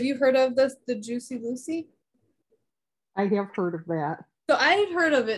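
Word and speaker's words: Jucy: It's J-U-C-Y, Juicy. Like Lucy.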